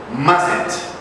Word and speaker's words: mustn't: But in this case, you don't pronounce the first T, mustn't.